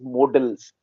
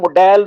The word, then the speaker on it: modal: final category is modals modals this is a very mispronounced word English speaking people call them models or models or sometimes models all these three pronunciations or model these are wrong pronunciations the word is modal modal means mood work